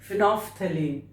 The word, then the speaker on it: phenolphthalein: This L is silent here, so we pronounce it like phenolphthalein.